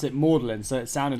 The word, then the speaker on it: Magdalen: college and then just instead of pronouncing it magdalen he's pronounced it modeling so it sounded like orderly so now everyone